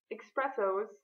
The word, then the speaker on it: espresso: you hipsters who order espressos well you really are a hipster because that's not how you pronounce it it's espresso it's an S not an neck how did the Hipster